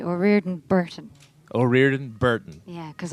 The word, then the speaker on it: O'Riordan: Now, is it O'Riordan or O'Riordan, or how do you say your last name exactly in the full Irish? Come on. I say O'Riordan Burton.